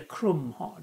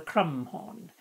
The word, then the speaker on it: crumhorn: h o r n I like to spell it with a c so I call it a chrome horn not a crumb horn now this is a